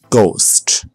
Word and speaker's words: ghost: The H is silent. Choir, echo, ghost.